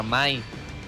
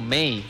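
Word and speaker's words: May: Sol contra Mai. No, Mei, perdón. ¿Eso? Me confundo cómo se pronuncia.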